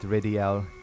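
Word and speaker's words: Rydell: ridel cell and yeah his name is written as Rell but pronounces it ridel kind of weird uh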